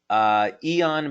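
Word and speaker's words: Aeon: Eon, by the way, is spelled A-E-O-N, and yes, that's a patch that you can find on our website.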